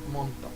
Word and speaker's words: Montauk: hablando de el proyecto monto monto escrito pero pronunciamos mundo qué significa esto acá